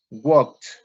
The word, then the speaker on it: worked: is going to be worked and the pronunciation is like a t at the end right and we have